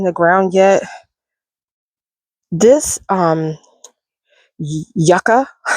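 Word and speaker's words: yucca: ground yet this um yaka if I'm saying it because I usually say Yuka but that's not how you say it it's so pretty and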